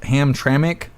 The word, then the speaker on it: Hamtramck: Astro Hammer, it's pronounced Hamtramck.